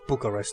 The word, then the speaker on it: Bucharest: Bucharest yeah that was the capital of Romania Bucharest that's how you say it okay hmm tonight